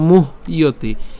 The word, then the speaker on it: মুহ্যতি: তত্র, ধীরস তত্র ন মুহ্যতি। এখানের ক্ষেত্রে মুহ্যতি অর্থাৎ ম রস্যকার হ পর্যন্ত আমরা উচ্চারণ করছি, মুহ। এরপর জফল উচ্চারণ কার মতো হয়? ইয়র মতো হয়, তাহলে মুহ্যতি।